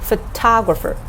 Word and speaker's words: photographer: Photographer. Ta is the second syllable, which is stressed, so can be used as our high tone.